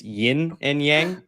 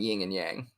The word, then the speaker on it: yin and yang: our Chinese listeners uh it's yin and yang there's no G I've done that many